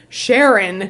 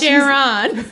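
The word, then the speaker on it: Charon: Sharon. She does the emphasis on the last syllable. She's like, hi, Sharon.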